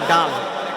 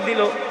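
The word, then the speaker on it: دال: আমরা বলি দাল। ওরা বলে ডাল। এক মাদ্রাসায় পড়াইতে গেছি বলি দাল। কয় ডাল উচ্চারণ করতে পারে না।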